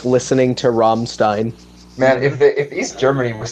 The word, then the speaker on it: Rammstein: Now, of course, I can also like karaoke to like Rammstein as well, or Rammstein. Why did I pronounce it as Steen?